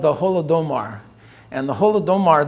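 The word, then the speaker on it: Holodomor: starvation is called the holodomar and the holodomar this means in uh in in russian is golodomar is how they say it but it means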